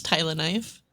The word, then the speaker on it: Tyleniphe: Today we have a special guest in May, otherwise known as Tyleniphe. Is that how you pronounce it? I'm not sure if that's actually how it's supposed to be. But Close. It's Tyleniphe.